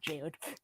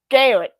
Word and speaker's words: Girard: I'm still mispronouncing his name. Mr. Nick Girard. Not Jared. Girard. Okay, you know his name.